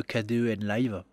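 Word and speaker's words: Kdenlive: avez en premier lieu kden live donc KD en live comme ça comme ça se prononce chercher le dos sur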